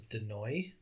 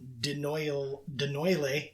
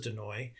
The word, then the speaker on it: Denoille: It sure sounds better than Denoyle. Yeah, I tried like 7 different pronunciations. Just for our audience, it's spelled Denoille. So I'm going to say Denoy.